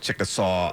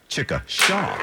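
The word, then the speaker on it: Chickasha: Donating food could get you out of a pickle in the city of Chickasaw, uh, Oklahoma. Let me say that. I didn't say it right. Chicka Shaw, Oklahoma.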